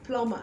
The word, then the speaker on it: plumber: same thing goes for words like plumber the be silent and also you have